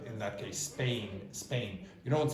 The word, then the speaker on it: Spain: For example, it's not aspirated after an S usually. So you don't say Spain, you say Spain, Spain. And it sounds a bit like b in that case, Spain, Spain.